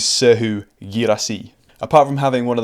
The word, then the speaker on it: Serhou Guirassy: Giving you my best French pronunciation. This is Serhou Guirassy.